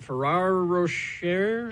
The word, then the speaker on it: Ferrero Rocher: Ferrero Rocher.